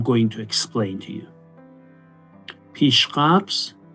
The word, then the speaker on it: Pishqabz: Pishqabz, not pashqabz, pishqabz. That's the way we say and we pronounce it in Persian.